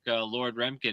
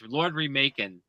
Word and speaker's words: Lord Remak: So, check Lord Remin out. Um, actually, it's Lord Remaking, I should say. It's Lord Remak. That's how it's pronounced because he's remaking.